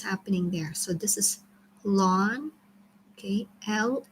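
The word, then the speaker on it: ln: there so this is long KL n it's pronounced as lon and this is operating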